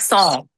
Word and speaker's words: Saun: It's like song.